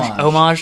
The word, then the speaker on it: homage: also a homage among homage H is silent nowhere else the HS isla is